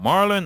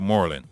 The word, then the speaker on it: Morlon: So people say, is it Marlon or is it Morlon? Because people call you Marlon, but it's spelled M-O, but it's spelled M-O-R-L-O-N.